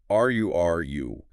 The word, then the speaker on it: rural: Following that we have rural pronounced ru. And we must acknowledge the difficulty here of the two consecutive R sounds. That poses a significant articulation challenge for many non-native speakers.